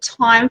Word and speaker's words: Thyme: So there's a place called Time for Health, and Time is spelt like the herb, THYME.